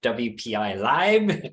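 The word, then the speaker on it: WPILib: all that that's excellent there's another way to pronounce it whippy Li so you may oh yeah WPI live whiy live okay it's all up to you um we can maybe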